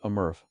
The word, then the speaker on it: MRF: as a material recovery facility or maraf pronounced a murf the main feature of